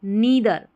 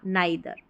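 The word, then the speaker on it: neither: Number 15 पर हमारा है नीदर या नाइदर। ठीक है? जैसे भी आप प्रोनाउंस करें।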